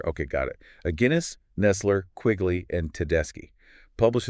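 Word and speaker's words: Aguinis: A Guinness, like the Or beer. Guinness like the beer. Okay, got it. A Guinness, Nestler, Quigley, and Tedeschi, published in the Social Behavior and Personality Journal.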